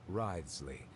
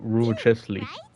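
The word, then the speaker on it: Wriothesley: personal dealings with the administrator of the fortress, Wriley. He's a very shrewd fellow. Yeah, we heard about That's how you pronounce his name. I thought it was rulely.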